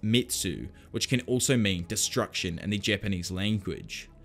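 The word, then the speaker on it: 滅: The blade has the character for slay, pronounced Metsu, which can also mean destruction in the Japanese language.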